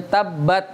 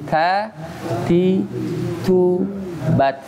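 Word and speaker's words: تبت: Jadi kalau antum baca tabat, benar nggak? Saat makhrajnya ya dari segi makhraj salah juga, ya. Sifatnya ya salah juga. Ya. Pertama, cara bacanya ta gimana? Ta, ta ti tu bat, ta ti, bukan ta ti tu, bukan ta ti tu, tapi ta ti tu bat, ada hamasnya.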